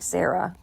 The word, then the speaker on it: Sara: the darker one the sarah family it's pronounced like sarah like my daughter s-a-r-a or some people spell